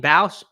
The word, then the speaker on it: Bausch: Isn't her last name Bausch? I think, not Bosch.